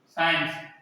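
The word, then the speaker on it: science: जैसे एग्जाम्पल तो बहुत, SCIENC क्या पढ़ते हो, साइंस, लेकिन सी साइलेंट रहता है इसमें।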